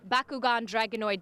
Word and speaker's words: Bakugan Dragonoid: world I your truck right behind us the Bakugan Dragonoid did I say it correctly you did you